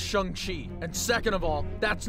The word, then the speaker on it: Shang-Chi: First of all, it's pronounced Shang-Chi.